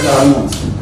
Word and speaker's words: karmon: So, जो karmic particles, जो physical, you know, material particles are the word karmons. So karmon rhymes with photon, electron, protons, neutron, you can carry on.